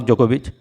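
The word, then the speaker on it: Djokovic: खिलाड़ी हमारे, पर्सनली मेरे, नोवाक जोकोविच। डी साइलेंट है यहाँ पे, ये सर्बियन टेनिस प्लेयर हैं।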